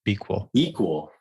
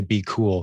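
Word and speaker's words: BQool: right now myself or b cool is actually how they pronounce it like equal but you put a b on the front b equal nice now i know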